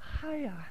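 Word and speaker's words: Chayah: It's actually Chaya. But written in the phonetic spelling, it's C-H-A-Y-A-H, which would, if you were to pronounce it in English, would be Chaya.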